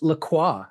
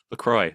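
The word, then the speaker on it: LaCroix: Anyway, I'm having a uh PMPlamoose Laqua because it was the most pretentious thing I could find. Lacroy. Lacroy. It's It's pronounced Lacroy.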